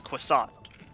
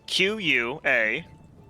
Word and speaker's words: Quasit: mage told me was Quasat. How do you spell that? Croissant. Croissant. The actual name is Quassit. Mm-hmm. Quasit. But he's a dwarf and he doesn't care, so he calls him the Quasat.